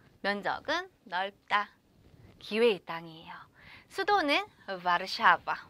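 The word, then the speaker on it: Warszawa: 수도는 바르샤바. 우리 이제 발음 공부할 건데, 우리 워소라는 말 많이 했을 거예요. 근데 우리는 이제 발음 공부를 할 거니까 바르샤바. 요 발음 공부도 같이 진행을 할게요.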